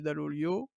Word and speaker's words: Dall'Oglio: de virer son entraîneur, Olivier Dall'Oglio, pour le prononcer à l'italienne.